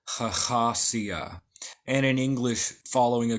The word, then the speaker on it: Hahasiah: of these videos and following Cornelius agria we pronounce this khasia and in English following